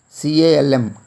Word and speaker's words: calm: C-A-L-M, calm. Here L is silent in this word calm.